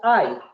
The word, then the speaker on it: I: les puse igual hay se pronuncia hay como decir hay hombre se escribe con mayúscula y se pronuncia ay esto significa yo esa